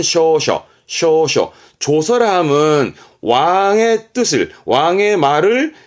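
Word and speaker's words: 詔書: 해서 고할 조 조서의 조자인 조서를함은 이게 조선입니다 발음은 쇼셔 쇼쇼 조서함은 왕의 뜻을 왕의 말을 일반 국민들에게 널리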